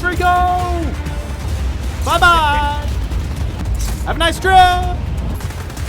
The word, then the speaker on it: Rico: Fortunately, Raiko has a satisfying way to deal justice to those who have used the tornado for evil. His name is actually pronounced Rico!